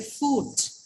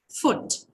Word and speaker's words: foot: his tendency to say food it's not food what is it it has a short vowel which should be pronounced as foot okay not foot foot